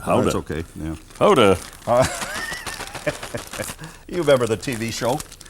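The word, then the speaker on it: Gouda: you got a lot of cheese here got guda yep and we've got different kind of cheese in there as well actually it's pronounced Hoda h that's okay yeah Hoda you remember the TV show how to duty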